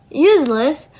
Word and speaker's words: useless: So in the word useless the stress it remains on the first syllables which is use the first word sorry the first word use it which is the base word. Okay, the suffixless it doesn't shift the stress of the word which is it's still